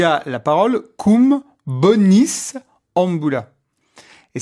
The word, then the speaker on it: bonis: Par exemple, à un moment, il y a la parole cum bonis ambula. Et certains prononcent tellement mal le latin qu'ils disent cum bovis ambula. C'est quoi? Bovis, c'est le bœuf.